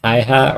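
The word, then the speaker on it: Häyhä: Yeah, I believe this name is pronounced Haiha or something like that. Timo Haiha is accredited as the White Death.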